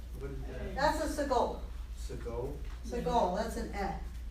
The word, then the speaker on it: Segol: Segol. Se. It's an eh.